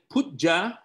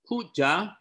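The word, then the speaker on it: Puja: It is very important for us as students of the Buddha Dharma to know that Pujja, pronounced as P-O-O-J-A, Pujja is not a direct telephone line telling the Buddha what to do.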